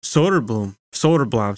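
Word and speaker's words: Söderblom: kind of similar to Soderblom, sorry, that's how they pronounce it.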